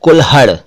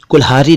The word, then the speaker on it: कुल्हाड़ी: और कुल्हड़, कुल्हड़, कुल्हड़, कुल्हाड़ी, कुल्हारी नहीं कुल्हाड़ी।